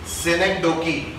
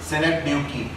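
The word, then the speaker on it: synecdoche: ये एक नया फिगर ऑफ स्पीच है, सिनेकडोकी, सिनेकडोकी, इसका मैं प्रोनाउंसिएशन भी लिख रहा हूं, सिनेक डकी या ड्यूकी भी बोल सकते हैं इसको, सिनेक ड्यूकी, ठीक है, इसका मतलब है,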